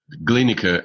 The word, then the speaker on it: Glienicke: over to Annika bridge Glenn occur it's pronounced by the way just a small point you just read and I thank you yeah the glienicke bridge they or a